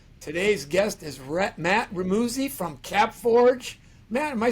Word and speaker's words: Remuzzi: guest is Rhett Matt remusi from capforge man am I saying that last name correctly it's actually real Muzzy I tell people it rhymes with fuzzy that's how you can